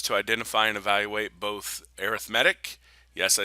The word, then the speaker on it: arithmetic: our job is to identify and evaluate both arithmetic yes I said that right arithmetic and I know it's spelled the same as arithmetic but it's arithmetic and geometric sequences all right a sequence is